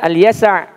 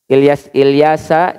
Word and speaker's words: Al-Yasa: Kami juga berikan, ya, wahyu kepada Ismail, kepada Al-Yasa. Ya, apa Yasa biasanya kita mah Ilyasa cenanya. Yasa, Ilyas wal Yasa, ya, bukan Ilyasa. Ya, tapi Al-Yasa. Ilyas Al-Yasa, ya. Nabi Al-Yasa, bukan Ilyasa, tapi Al-Yasa.